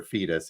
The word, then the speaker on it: Foetus: from the artist, and I'm going to pronounce it Foetus or Fetus if you want.